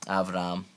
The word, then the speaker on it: Avram: son, and that's all contained in Abram's name, Avram, the great exalted father.